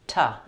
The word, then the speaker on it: to: To gets reduced to tuh in fluent speaking, not to me, but to me.